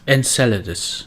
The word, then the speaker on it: Enceladus: Yes, Enceladus is how you say it.